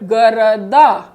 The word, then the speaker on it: города: Город, the stress is on the first O. But in plural, города. Stress is shifting to the last vowel A.